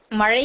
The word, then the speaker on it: மழை: லா என்ற எழுத்துக்களே பெரும்பான்மையும் பயன்படுத்துகின்ற ஒரு நிலையை வந்து மழை என்று சொல்லாமல் மலை என்று சொல்கின்ற பேச்சு வழக்கே இருக்கின்றது.